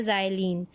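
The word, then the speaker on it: xylene: उसको हम कहते हैं ज़ाइलीन। दिस इज़ नॉट, ये X है लेकिन इसको जब प्रोनाउंसिएशन होती है तो X को Z कहा जाता है, और ये आपके पास बन जाता है ज़ाइलीन।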